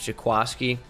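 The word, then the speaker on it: Jaquiski: i'm still upset that his name is jaquasky when it's spelled jakwisky bothers me a lot so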